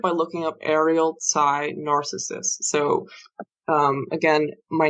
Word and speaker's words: Narcissus: i SS u s it is not narcissist like the disorder or the person it is narcissist like the Greek youth um in the myth